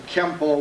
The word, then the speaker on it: Kenpo: First of all, it's pronounced with an N.